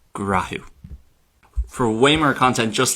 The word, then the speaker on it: Gnáthamh: So, when we put these 3 rules together, which are seen all the time in Ulster Irish in a load of different words, that is why Gnáthamh changes to grahu.